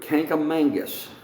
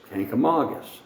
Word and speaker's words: Kancamagus: a lot of locals say the word canker Mangus there's no such thing as kancamangus you look at the word on the canker Magus highway and it's Kancamagus there's only one n in it and the Kancamagus Country